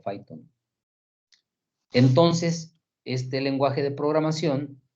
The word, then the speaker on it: Python: Python, así se pronuncia Python.